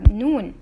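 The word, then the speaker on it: نون: above it one dot its name is noon and it sound is neh its name is noon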